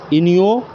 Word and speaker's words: Iniochos: इनियोचोस इसका प्रोनाउंसिएशन होना चाहिए में भारतीय वायुसेना भाग लेगी?